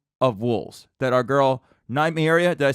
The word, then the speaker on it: Nymeria: There could be an army of wolves that our girl Nymeria. Did I say it right? I always say it wrong. Didn't I say Lymeria?